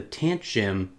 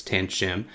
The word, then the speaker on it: Tanchjim: a look at the tant jim hanna doing my best to pronounce that brand name but i think it's tan shim this is a single